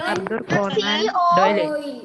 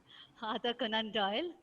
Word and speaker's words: Arthur Conan Doyle: Other Arthur, Arthur, Conan, Arthur, Arthur C Conan O Doyle.